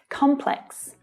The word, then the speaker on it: complex: Complex. Now in standard British English, there's just one way to pronounce this word, with the stress on the first syllable.